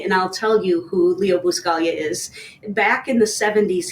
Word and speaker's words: Buscaglia: Bob Ross, Leo I was gonna try to pronounce the name, Bersky? you're so close. Buscalia, Leo Buscaglia, Buscalia.